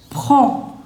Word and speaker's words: prends: Je prends. See, D and S both are silent.